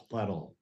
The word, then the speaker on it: Pletel: Last name pronounced Pletel. Pletel. Like metal.